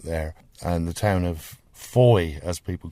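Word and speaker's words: Fowey: Now, when visitors say the name, they often say Fowy. They do. And is that correct? I would say it's traditionally incorrect, but technically correct.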